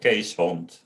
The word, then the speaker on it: Keeshond: Case like an Like CAS. Kees. Oh, okay. And then Hond, the Dutch way, Yeah.